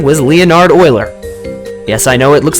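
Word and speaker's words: Euler: Greek letter Pi this man's name was Leonard Oiler yes I know it looks like uler but it's pronounced as oer you might have heard of him he didn't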